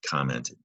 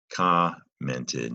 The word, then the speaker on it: commented: Now I took the M out of commented because if you say it slowly, you don't really say the M, but it is a short O sound. Here's an O. Just like we say when you go to the doctor, open up and say commented. And it's a short O because of the two M's in commented.